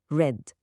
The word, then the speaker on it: read: في المضارع بنقول read عادي، لكن في الماضي والتصريف الثالث بننطقه red، زي اللون الأحمر بالظبط. تفصيلة صغيرة لكنها بتفرق جدا في الكلام.